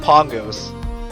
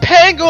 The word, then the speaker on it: Pango: Is it Pango or Pongo? Someone didn't tell the Vela person how to pronounce it. Push it's Pongo actually, because I'm pretty sure in the other games they always say pronounce it Pongo.